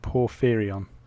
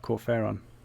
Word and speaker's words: Porphyrion: So, Hippo says you pronounce it Porphyrion. That sounds better than the way I pronounced it. I can't remember how you pronounced it now. It's like Corferon.